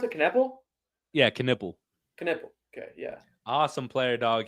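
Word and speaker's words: Knueppel: How do you pronounce it? Knipple? Yeah, Knipple.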